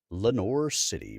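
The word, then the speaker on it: Lenoir City: If you guys didn't happen to be in the YouTube channel, even though uh the name of the town looks French, it is pronounced Lenor City by locals despite it being spelled like a French wild.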